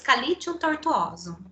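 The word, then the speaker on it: Sceletium tortuosum: a mesma coisa mas a forma correta de se pronunciar é esse kale tio tortuosos vai ficar limpo ela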